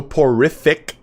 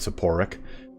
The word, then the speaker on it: soporific: to corn corruption so porrific musk as i have mispronounced it before i've said sephoric um so porrific musk enables